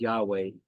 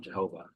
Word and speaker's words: Yahweh: But it probably really is just pronounced Yahweh. Definitely not Jehovah.